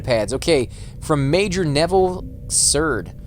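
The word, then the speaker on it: Cerd: Okay, from Major Neville Curd, or Curd, however you want to pronounce that, C-E-R-D, to Corporal Sanaki, or Sanakai.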